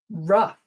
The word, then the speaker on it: rough: O-U-G-H can also be pronounced uff, like the uff in stuff. Enough. I've had enough, you might say. Rough.